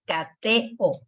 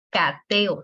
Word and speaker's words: cateo: Como son tan fuertes, se repelen. Entonces ya te dice, ¿sabes qué? No podemos convivir. Vete a otra sílaba y se va. Y ya tenemos cateo. Cateo. Son 3 sílabas. No es cateo.